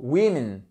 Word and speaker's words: women: One woman, two women.